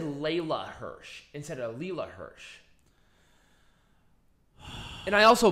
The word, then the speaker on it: Leyla Hirsch: layla hirsch people bitching me about me pronounce mispronouncing layla's name it's layla hirsch shut up anyway wait wait how did you pronounce before i think it said layla hirsch instead of leela hirsch and i also butchered the last name because